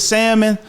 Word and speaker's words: salmon: somebody put in there I think it's salmon without the L so but you I